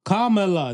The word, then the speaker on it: Kamala: the Kamala Kamala boy you still not gonna say her name right Kamala Kamala Kamala there you go yeah you know I